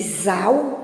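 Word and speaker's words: Zahl: Que é de Zal, né? Eu não sei bem se pronuncia assim, mas é Zal, que vem do alemão, que quer dizer números, certo?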